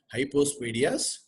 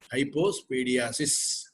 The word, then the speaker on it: hypospadias: It is hypospadias, but not hypospadiasis. This difference you have to understand. Many people pronounce it as hypospadiasis, which is wrong.